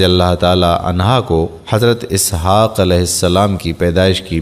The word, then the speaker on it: اسحاق: الذریات آیت نمبر 30۔ اسحاق اصل تلفظ کے اعتبار سے یسحق ہے۔ یہ عبرانی لفظ ہے جس کے معنی ہنستا ہوا ہے۔ حضرت اسحاق علیہ السلام